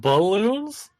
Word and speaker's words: Bloons: balloons tower defense six is it balloons or boots balloons but it's it's about balloons it's about balloons that's just the way it's spelled that's just the way